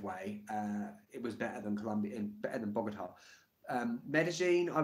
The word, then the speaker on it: Colombia: a U, Columbia, and I know I'm pronouncing it wrong. I know it's more like Colombia, but I say Colombia.